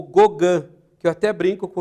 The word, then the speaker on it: Gauguin: Então é Gauguin, se escreve Gauguin, mas é Gauguin.